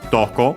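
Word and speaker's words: どこ: With the Ko it becomes well, with Do the interrogative, so which place, so actually then simply where, accent on the Do itself again.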